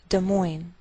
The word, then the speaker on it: Des Moines: Note that we treat the name of this capital like one word, and the greater stress is on the second part, so we say Des Moines, Iowa.